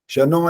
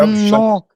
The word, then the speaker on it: शन्नो: शनो ऐसा लगा वो, जैसे श और आगे नो, ऐसा नहीं होता। जब शन्नो है ना, तो न का आधा वाले न का भी उच्चारण सुनाई दे, और पूरे वाले में तो मात्रा भी डली हुई है, तो पूरा समय देना पड़ेगा वहां पर।